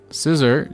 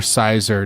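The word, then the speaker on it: Scizor: all right we got scissor gx look at that or sizer depending how you say it i say scissor sizer depending on my mood that day but this is a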